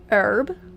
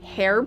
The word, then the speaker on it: herb: You just gotta really pronounce that H, you know?